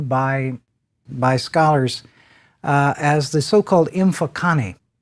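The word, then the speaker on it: Mfecane: scholars as the so-called Mfokane. Actually, if I were to pronounce that correctly, it would be something close. I'm only going to try this once. To Mfokane. There would be a clicking sound there, and again, as is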